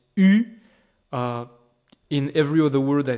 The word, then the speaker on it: eu: But strangely enough, this EU by itself is pronounced U.